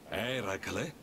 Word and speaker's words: Eracle: Eracle? Sì, quello. È così che si dovrebbe pronunciare.